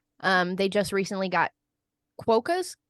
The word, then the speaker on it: quokkas: I recently Stay saw a TikTok from Robert, actually, where he said they just recently got quokkas. How do you say that? Quokkas, yeah.